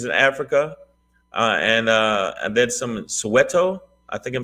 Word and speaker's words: Soweto: And then some Soweto.